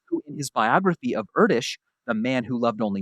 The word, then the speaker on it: Erdős: This limerick is a brilliant way to remember how to pronounce Erdős, because it rhymes with Kurdish.